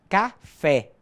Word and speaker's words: café: Las letras O y la letra E en español, ellas deben ser pronunciadas con el sonido cerrado.